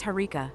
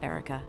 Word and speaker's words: Herka: with your creative mispronunciations but it's herka not Erica and I'm doing just